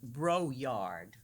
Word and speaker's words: Broyard: I just learned that our speaker's name, he pronounces Broyard, but I think that's too I prefer Broyard. I think that's much nicer.